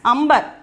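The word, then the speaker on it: अंबर: See, that is why we are pronouncing this word as amber.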